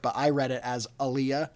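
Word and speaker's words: Alia: The one that I remember is that Anya Taylor-Joy's character, who I don't know how they pronounce it in the book, but I read it as Aaliyah. Aaliyah, yeah, that's how they say it.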